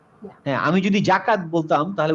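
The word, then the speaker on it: زكاة: আমার উচ্চারণটা শোনো, যা, যা। জাকাত, হ্যাঁ, আমি যদি জাকাত বলতাম তাহলে উচ্চারণটা ডিফারেন্ট আসতো না।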